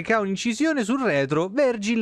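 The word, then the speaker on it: Vergil: Si pronuncia Virgil.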